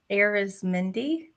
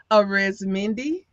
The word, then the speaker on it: Arizmendi: name for me yes aerys Mindy arizmindy okay just like it's spelled but I looked I